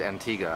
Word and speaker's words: Antigua: Hello, we're in Antigua, and even though it's spelled Antigua, it's pronounced Antigua.